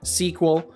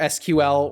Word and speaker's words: SQL: And I'm using link style queries, which are then being converted into SQL or SQL or Squeal, however you want to pronounce it.